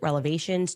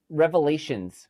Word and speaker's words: revelations: I have so many explosive relevations to share with you. Oh, wait, wait, no. Uh, it's revelations.